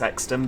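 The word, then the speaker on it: Euxton: I know it's Exton, but I mean, let's face it, it's spelt Exton, so that's what we're going with.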